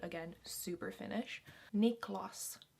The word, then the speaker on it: Niklas: sound again super finnish niklas niklas so that's how you'd pronounce it um in finland niklas hogman nicolas nick